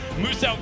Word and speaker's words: Muselk: Now, Muselk wants you to know his name is pronounced as Muselk, the Australian-based content creator down there.